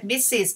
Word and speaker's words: Mrs.: But in English, if you marry, the pronoun gonna be two syllable, Mrs.